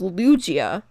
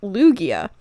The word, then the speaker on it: Lugia: Now, you might be thinking it's pronounced Lugia, but actually it's pronounced Lugia.